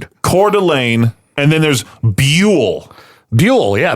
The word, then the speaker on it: Buhl: Coeur d'Alene and then there's Buhl. Buhl, yeah. B U H L. But it's B Y O O hyphen U L L. That's how you pronounce it.